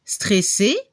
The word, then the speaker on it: stressé: Al nivel de la pronunciación, masculino y femenino se pronuncia igual. Otro ejemplo: estresado, estresada. En francés, stressé, stressé.